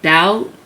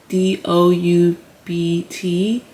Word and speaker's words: doubt: Such as the word doubt. D O U B T. The B is silent in doubt.